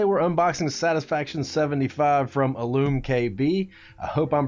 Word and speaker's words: iLumKB: unboxing satisfaction 75 from illume kb i hope i'm pronouncing that right i assume it's pronounced like illumination as that is how it's spelled but uh yeah so